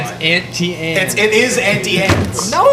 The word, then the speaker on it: Auntie Anne's: It rhymes. It's internal rhyme. Auntie. Auntie Anne. But it's auntie. though. It's not auntie on. Auntie Ants is completely fine. Uncultured. Don't change it. Not ant. No. Aunt.